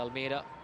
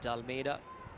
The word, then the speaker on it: De Almeida: Excellent toss to win for Kevin De Almeida. He got his name wrong with the first 2 days. He kept calling him Almeida. Just been told it's the apostrophe Almeida, pronounced Dalmeida.